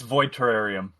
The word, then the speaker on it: Void Terrarium: the New York bundle I'm sorry I can't pronounce this game void star TR r r lm2 parentheses dude there's dude it's it's void terrarium yeah it's void terrarium 2 but like the